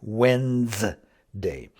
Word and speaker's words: Wednesday: Wednesday, Wednesday, Wednesday, Wednesday. It almost, you don't even hardly hear the D at all. I think if you listened really carefully, you might hear the D, but it's more like W-E-N-Z.